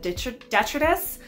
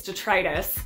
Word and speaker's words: Detritus: on it which uh i always say the name wrong i always said detritus but apparently it's detritus either way you say